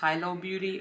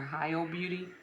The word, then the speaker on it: Hilo Beauty: I think it's pronounced Hilo Beauty or Hilo Beauty.